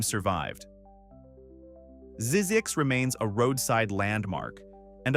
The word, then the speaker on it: Zzyzx: His solution was Zzyzx, pronounced Zzyzx.